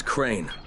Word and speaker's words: Crane: no my name is crane okay crane rhymes with train and brain and same and gray and rain and plane and the other kind